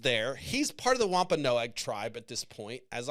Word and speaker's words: Wampanoag: And so he ended up kind of joining the Wampanoag tribe. I fucking listened to that word, Wampanoag. That's how you say it.